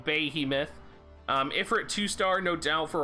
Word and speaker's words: Behemoth: Love the Golem 2-star, love the Behemoth. Sorry, said it wrong, Behemoth.